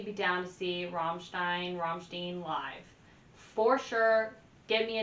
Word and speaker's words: Rammstein: in my day-to-day life number 25 we have Ramstein I think I'm finally saying it right Rammstein Rammstein um yes Ramstein um industrial metal I